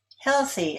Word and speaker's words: healthy: Healthy is stressed on the first syllable.